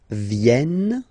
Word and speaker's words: viennent: Ils viennent. So remember this classic ending ent for the third person of the plural is here, but phonetically it doesn't exist, so you don't pronounce it.